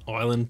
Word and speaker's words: island: Island, the S is silent.